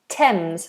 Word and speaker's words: Thames: on a few occasions usually with names the th becomes a t like the River Thames for example or the